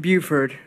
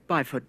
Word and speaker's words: Byford: Buford. Congratulations on, yes. What? Byford, sorry. Not Buford.